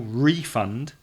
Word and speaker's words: refund: verb the stress changes the noun a refund the stress is on the second syllable no no first okay okay my mistake I'm sorry the stress is on the first syllable refund to ask for a